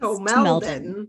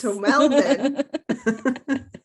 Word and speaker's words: Tomelden: It's accent on the second syllable, as my dad would always say. It's Tomelden. Yes. Tomelden.